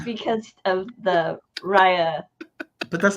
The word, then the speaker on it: Rey: I keep calling her Rye because of you.